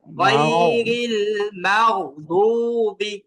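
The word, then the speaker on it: غير المغضوب: তো গইন আসার কারণে এই যে গইনের উচ্চারণটাকে সামান্য মুখটাকে গোল করতে হবে। মাও মাও, এইভাবে মুখ গোল করতে হবে। মাও গইরিল মাগদুবি, গয়রিল মাগদুবি মাগদুবি গইরিল মাগদুবি।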